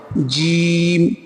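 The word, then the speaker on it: جيم: আচ্ছা, এখানে দেখো এই যেমন একটুখানি হালকা একটু মানে চেপে তুমি দুটো মাড়ি চেপে একটুখানি উচ্চারণটা হবে, জিম।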